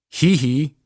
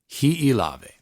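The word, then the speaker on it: Hiʻilawe: But if you're saying hee-hee, you're doing it wrong. It shouldn't be hee-hee. Hee-hee, hee-hee. No. Hi'i. Hi'ilave.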